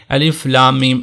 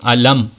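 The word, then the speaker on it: الم: کے ہجے نہیں ہوتے، یعنی ایسا نہیں ہوگا کہ الف لام میم علم، علم یا علم سوا، اس طرح نہیں ہوگا۔ بعض لوگ اس کو ایک ساتھ ملا کر پڑھنے کی کوشش کرتے ہیں، ہجے کرتے ہیں، تو ایسا نہیں ہوگا۔ ہر ایک حرف منفرد علیحدہ سے پڑھا جائے گا، ایک سانس میں ہی۔ ایک یہ جو مرکب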